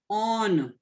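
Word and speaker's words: -one: to replace E by on. We have to write on. O-N-E, it is not one, it is on. Whenever we are using that O-N-E while writing the IUPAC name, it pronounced as on.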